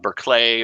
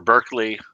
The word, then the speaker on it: Berkeley: uh berkeley or or berkeley uh hopefully i didn't pronounce that wrong i know there's two different ways to say it oh the the philosopher uh yes uh i think it's barkley but i i'm not